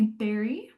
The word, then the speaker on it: Barry: So, my name is Barry, pronounced like berry, like a strawberry or raspberry.